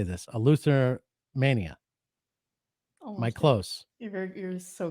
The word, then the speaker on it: Eleutheromania: to say it so someone who repairs guitars is a luther so that's like the first half of the word and then the country romania so you just put